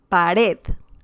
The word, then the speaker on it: pared: The first one is pared. Pared. Red, this part, the last syllable, has a stressed syllable.